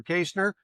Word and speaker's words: Kaestner: Today is Peter Kaestner, and if you're wondering, that is the correct way to pronounce it, unless you're German.